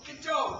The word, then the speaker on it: Godot: it's the name of the play G do gdo don't you read your program I thought it was God do it's pronounced gdo I've been saying go you're waiting